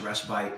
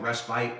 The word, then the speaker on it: respite: Well, it is pronounced respite in some parts of the world. I got hammered. I said people are saying you didn't pronounce that properly, so I went and looked it up. City. Sure enough, it's more like respite in Europe and respite here in this country.